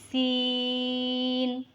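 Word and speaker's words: سين: is similar to Sheen sin is a light sound and long letter it is pronounced in the tip of the tongue comes between the front of and bottom teeth so read after me scene scene read once again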